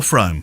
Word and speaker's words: Frome: okay will Marsh in Froome is it Froome or Frome Froome they pronounce it from there they yeah one for